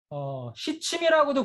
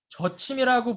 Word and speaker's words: 저침: 참침, 원침, 시침이라고도 부르지만 한의학자들과 이 글자에 대한 한글 표현, 발음 표현을 논의한 결과 저침이라고 부르자라고 해서 저침이라고 제가 표현합니다. 물론 이 글자를 시라고 읽는 일부 한의사들도 있어요. 그렇지만 이 글자가 중국에서도 발음은 떠로 발음합니다. 떠를 우리가 한글로 표현을 하면 저에 가깝습니다. 그래서 저침이라고 얘기합니다.